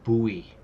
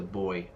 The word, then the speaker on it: buoy: But Americans say, like, buoy. Buoy. Yeah, but that's not correct. The correct pronunciation is, where is the boy?